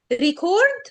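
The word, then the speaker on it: record: درس تاني خالص برض بنقول ريكورد ولا ريكورد ريكورد ولا ريكورد مين فيهم النطق الصح مين يقول لي كده مين فيهم النطق الصح هو بالنسبه للنوع النوع بيبقى الاستريس على اول اول اول برافو ولو هي لو هي فيرب هيبقى الاستريس على التاني اوكي يعني مين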